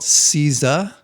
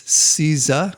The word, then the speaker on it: Seiza: So it's Seiza. That's Seiza. I believe that's the correct pronunciation.